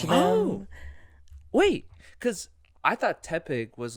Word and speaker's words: Tepig: more sense to me it's like tepid and so I was like oh okay yeah it's probably Tepig but as a but I say it like tea Pig it's spelled it's like